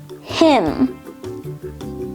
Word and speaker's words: hymn: Then, dam, dislimb, hymn, limb, and finally, solemn. These words all have a silent letter N because they end in the letters M, N.